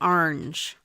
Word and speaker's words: orange: So Lois, you call it orange, orange, orange, like kind of like one syllable, orange.